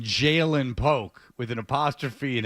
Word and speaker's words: Ja'Lynn: And that is, how do you say it? Jalen.